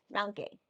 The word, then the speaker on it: Mount Gay: Mount Gay.